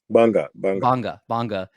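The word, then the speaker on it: Gbarnga: where you were born in, I believe it's pronounced Banga, correct? Banga.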